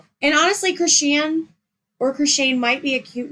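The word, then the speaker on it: Khryshshane: And then you go to the pronunciation in the post and they say pronounce Croine.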